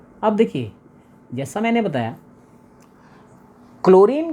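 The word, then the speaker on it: chlorine: देखिए जैसा मैंने बताया क्लोरीन का जो प्रोनंसिएशन है that is क्लोरीन सी एच एल ओ आर आई एन बट फ्लोरीन का जो प्रोनाउंस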